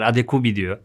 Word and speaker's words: Adekugbe: bize düzelteyim burada Kanadalı spikerler adigue diyoruz da telaffuzlara çok takılıyor arkadaşlar o yüzden kendi milli takımının maçlarındaki telaffuzunu söyledim hadi qi videolar başlayalım istersen